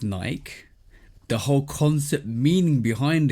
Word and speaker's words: Nike: It's named after the Greek goddess of victory, who is named Nike.